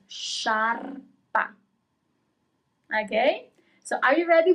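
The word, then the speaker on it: sciarpa: And finally, scarf is sharp. Sharp. Okay, you pronounce all the letters. Sharpa.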